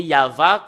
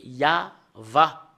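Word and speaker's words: יהוה: la Sainte Écriture Hébreux c'est yava qu'on le prononce et vous pouvez pas lu faire une discussion et le contredire que c'est yava voilà l'original de cette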